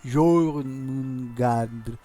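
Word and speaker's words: Jörmungandr: La O con gli out sopra si legge Jormungandr.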